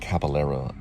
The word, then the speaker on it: Caballero: That's how you say it, Caballero. I always misspelled or always mispronounced his name.